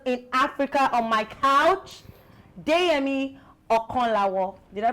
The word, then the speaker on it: Deyemi Okanlawon: highest grossing actors in Africa on my couch, Deyemi Okonlawo. Did I pronounce it well?